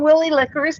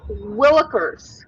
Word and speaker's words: Willikers: Well, I mean, it would be, because he's not saying Willie Lickers, but that's what I see when I read it. So it's Willikers.